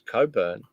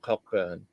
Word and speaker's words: Cockburn: __ ] it up it's Coburn not cockburn that's correct okay so you don't pronounce all right that's stupid